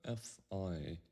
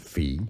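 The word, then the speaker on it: Phi: isn't a common knowledge V or F but f i is the most commonly accepted pronunciation the name of these Greek letter we'll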